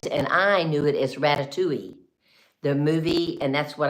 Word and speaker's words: ratatouille: ratatouille, but it's called ratatouille. Ratatouille. So there's a lot of, you know, you look at it and it has the L's there, and you wonder, why can't I pronounce the L?